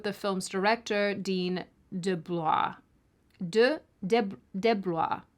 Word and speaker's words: DeBlois: DeBlois. That's how he pronounces it. DeBlois.